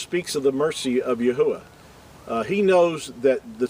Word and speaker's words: Yahweh: but to be accurate it his name is pronounced Yahweh and um that's for another teaching I'm not